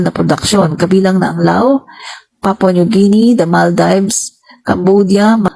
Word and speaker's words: Laos: yung Lao mga kaibigan Lao Pag binasa mo siya Laos Pero hindi naman siya Laos eh Lao silent s no ginagawa ngayon ng